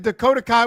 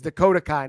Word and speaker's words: Dakota Kai: It's Dakota Kai, not Dakota K.